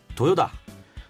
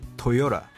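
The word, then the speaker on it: Toyota: 자구아 하고 아니고요 자구아 도요다 도요다 아니고요 토요다 볼보 보보 폭스바겐 볼크스웨건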